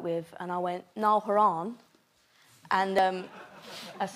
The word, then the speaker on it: Horan: What's the best mispronunciation of your name floating around out there? Niall, Noel, Nigel. Nigel? Haroon, Horan.